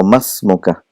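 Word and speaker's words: ما اسمك: Wa masmuka. So again, ma is particle of question, harfa istifham, and because there is hamzatul wasl, that alif is not pronounced. So masmuka, what is your name?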